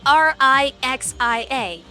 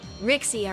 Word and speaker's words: Rixia: So if you're an American who doesn't know Chinese, you're gonna assume her name is like Rixia or something. Which is not how you pronounce it. It should be Rixia. Because the accent makes a kind of, I don't even know how to describe it, but like, it doesn't make an X sound.